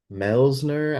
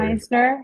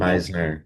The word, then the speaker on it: Meisner: Like Chiameka is I think it's called Melsner actor. I might be saying it wrong. And then Joanne does Taylor. Meisner, I think. Meisner. Yeah, My, thank you. yeah.